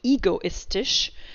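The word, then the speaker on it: egoistisch: kaiten you're happy that it's ego is not egoistish that it's ish rather than ik and that it's by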